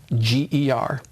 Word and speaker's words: Nordlinger: I think there's only basically one way to spell it, but I do spell it for people. It's Nordlinger.